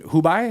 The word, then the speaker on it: Hubei: So growing up in Hubei, is that how you say it? Hubei, my bad.